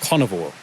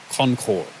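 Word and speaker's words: Conchobar: next the king himself carnivore it's either carnivore or Concor that's CH there in the middle can be silent the B is a v so it's carnivore or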